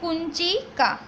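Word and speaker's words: कुञ्चिका: इसको हम न के प्रोनाउंसिएशन में, यानी कि जैसे क के ऊपर डॉट हो उसके जैसे प्रोनाउंसिएशन में रीड करेंगे, तो इसको कहेंगे कुंचिका। फिर से एक बार ध्यान रखना, कुंचिका।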